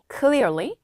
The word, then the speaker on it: clearly: 근데이 l 발음을 좀 하셔야 돼요. 혀끝을 살짝 무는 느낌을 떠올리면 좀 더 잘 될 수 있어요. 그냥 한국어리가 아니라요. clearly, quickly, quietly, regularly, slowly.